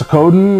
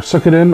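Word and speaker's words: Suikoden: and that's Sakodin or Sukodin. I pronounce it Sakodin.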